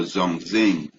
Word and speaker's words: Zhongxing: It says Zong, pronounce this word, right? Let's see, right? Zhongxing. Oh, Zhongxing, right?